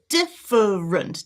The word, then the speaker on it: different: So this is the I sound. Relax those lips. Just a little bit open. Diff. And then I've got my schwa, different, different, different.